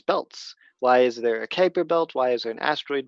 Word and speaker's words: Kuiper Belt: It sounds like the word vipers, Kuiper Belt.